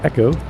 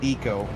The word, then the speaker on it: Eco: If I can correct, Gol, Maya, Eco, just to correct the pronunciation. I think he was doing it to annoy you. Did you say Echo? That's your shtick. Eco? Echo. It's one Eco.